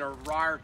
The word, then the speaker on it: Arar: This is called an Arar tree.